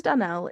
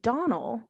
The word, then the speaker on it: Donnell: Dunell is overdressed and pompous, and she's here to complain that according to Clarice, Anne pronounced their last name Donald rather than Dunell.